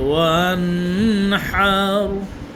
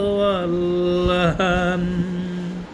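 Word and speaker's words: وانحر: সঠিক উচ্চারণ হলো ওয়ানহার, ভুল উচ্চারণ হলো ওয়াল্লাহান, ওয়ানহার।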